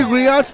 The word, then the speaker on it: griot: think the one that Griots. Griot. I heard it's Griots. No, it's Griots. But the T is silent.